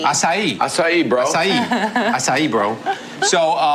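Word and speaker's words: açaí: Acai. Acai.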